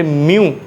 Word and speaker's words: μ: इसमें हमारे पास स्टेटमेंट है, इफ़ F इज़ a magnitude of friction, R is normal reaction and म्यू, ये symbol इसको म्यू प्रोनाउंस करते हैं, म्यू इज़ the coefficient of friction.